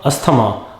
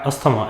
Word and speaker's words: asthma: pizza not pizza pizza it is not asthama my friend does not have asthma it is asthma my friend has asthma